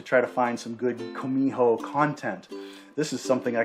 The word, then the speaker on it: Gumiho: But it's not really a hard G or a hard K. It's like a combination of the two, Gumiho.